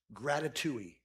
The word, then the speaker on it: gratitouille: And so the word that came to me was gratitouille. It rhymes with ratatouille.